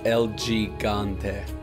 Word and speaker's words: El Gigante: the name is spelled El Gigante but it's pronounced L gante it would be really interesting to have like